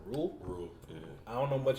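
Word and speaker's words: Rhule: How you pronounce it? Rule.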